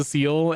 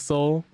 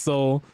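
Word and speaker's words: Seoul: And to date, I used to pronounce the Seol until I found out it was Soul for like a very long time until somebody told me like, "No, it's pronounced Soul."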